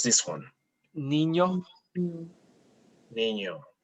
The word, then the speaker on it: niño: So this word, it's, how do we pronounce this one? Niño. Niño, correct.